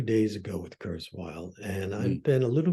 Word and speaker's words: Kurzweil: But sometimes you see, tell me a little bit about Ray Kurzweil, because sometimes, how do you say his surname? Sorry, Kurzweil.